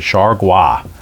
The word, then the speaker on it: Chargois: And yes, that's how the announcers pronounced it, Chargois. So JT Chargois. Sounds like you ought to be having escargot with your Chargois.